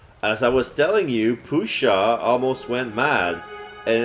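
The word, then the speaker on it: puszcza: s z c Za a how would you pronounce it it's Pusha the youu O and then the SZ and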